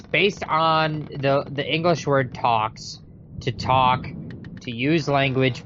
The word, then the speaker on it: Tawks: we've got here with talks talks ta wks Jeff well real quick so what's interesting is it talks it rhymes with squawks it's spelled like squawks but if you actually